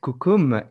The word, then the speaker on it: Kukum: Cela s'écrit, cela se prononce Kukum, K-U-K-U-M.